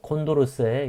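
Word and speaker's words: Condorcet: 이건 불란서 학자의 이름이에요. 그래서 이 세트라고 발음되지 않고 뭐 콘도르세 이렇게 발음한다고 해요.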